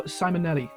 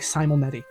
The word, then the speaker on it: Simonetti: The musical score was done by Claudio Simonetti. I never say his name right. I always want to throw an L in Simonetti. I always want to say like Simonetti, and that's not.